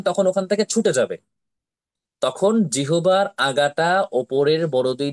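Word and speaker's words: ت: তা অক্ষরটি উচ্চারণ হচ্ছে জিহবার আগা সামনের ওপরের দুই দাঁতের গোড়ার সাথে লাগাইয়া উচ্চারণ হয় তা একদম লাগিয়ে রেখে কিন্তু উবার উচ্চারণ হবে না যখন তা বলবেন তখন ওখান থেকে ছুটে যাবে তখন জিহবার আগাটা ওপরের বড়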